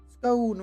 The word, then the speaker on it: scone: Scone rhymes with gone.